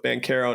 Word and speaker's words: Banchero: of their names so we're going full italian pronunciation with ban caro now so we got